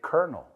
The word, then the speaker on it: colonel: Ahora, los ves y dices, colonel, porque en inglés se escribe colonel, pero se dice colonel.